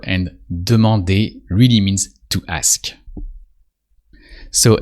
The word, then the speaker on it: demander: Demander. That usually sounds demander. Here you recognize the verb to demand, but in French is really lighter and demander really means to ask.